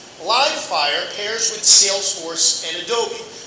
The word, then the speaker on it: Livefyre: Am I pronouncing that right? Livefyre? You are. Livefyre and Salesforce have agreed to integrate their respective